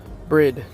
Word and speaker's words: Bride: By the way, this is called Brid, not Bride. E is silent.